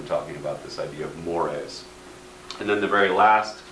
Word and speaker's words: mores: wide interpretation sometimes we hear another term called mores looks like it's just pronounced or it looks like a spell going to turn the word more but he is pronounced mores these are values which are sometimes considered very